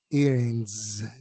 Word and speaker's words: earrings: En la palabra earings, la S tiene una pequeña vibración. Más que una S, es como si fuera una Z vibrada. earrings.